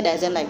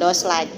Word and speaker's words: doesn't like: Bacanya doesn't like, bukan does like.